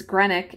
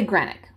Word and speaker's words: Greenock: so in earlier times granick and I think I'm pronouncing that correctly it's g-r-e-e-n-o-c-k it looks like Greenock but it's probably granite whoever I'm sure somebody will correct me in the comments I'm gonna say granite so in earlier times